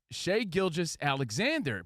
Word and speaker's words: Shai Gilgeous-Alexander: IS IT SHAY? Is it Shai? Is it Gilgeous? What's it Gilgeous? It's Shai Gilgeous-Alexander.